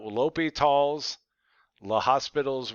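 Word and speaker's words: L'Hôpital: And then they want you to say, and because of that, and so L'Hopital's, that's where you got to actually spell it out. L'Hopital's, L'Hospital's rule applies.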